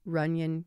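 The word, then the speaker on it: Runyon: you who do care ran is spelled Ru n y n and that's runan Canyon Park if you want to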